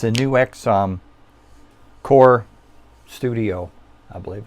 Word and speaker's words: NUX: I really like my NUX, not pronounced Nux, NUX. There's like a dash there.